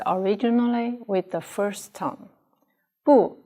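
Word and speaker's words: 不: with the first tone boo it's a negative adverb before a verb and pronounced with the fourth tone originally let us talk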